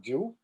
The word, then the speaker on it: Jiu: Gopal Ju Ki Jai, which is written Jiu, which in Sanskrit it would Jiu, but I guess they should pronounce it Jew. Well, it is Jew.